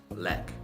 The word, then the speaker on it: ལེགས: ha ha let okay so this guy as a suffix does get pronounced it's not like the saw that we saw before this however this what we call post suffix post ethics ah does still remain silent okay so this just gets pronounced as lek okay so the whole